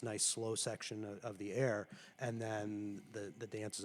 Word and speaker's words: Ayre: It's not a super complicated piece, but it's called Air and Dance. It's spelled Ayre, and Dance by, I believe, Bruce Pearson is the composer of it.